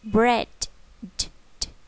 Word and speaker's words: bread: đúng không nào bread bread chúng ta đọp âm cuối này nh nhá bread bánh mì ok tiếp